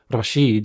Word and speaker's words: Rashid: We cut to Texas University and we hear about our first evil terrorist character named Rashid, or Rashid with correct Arabic pronunciation.